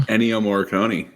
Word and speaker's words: Ennio Morricone: I can't pronounce the guy's name. Ennio Morricone.